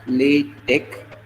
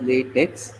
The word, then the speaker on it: LaTeX: to the real part so latch is generally pronounced as lat Tech it is not lat Tech t Okay so most of the people pronounce pronounce it as latex but it is not late Tex it is